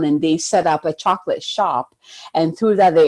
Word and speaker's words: Chocolat: guys watched that movie chocola it's like chocolate but it's french chocolate i think that's how they say it but it's one of